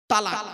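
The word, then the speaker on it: طلاق: স্ত্রীকে একটা শব্দ বলে ডিভোর্স দেয় শব্দটা কি তালাক তাইতো আরে বলুন না বউ যাবে না ভয়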